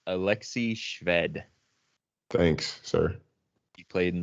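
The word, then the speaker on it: Alexey Shved: A is pronounced Alexei Shved.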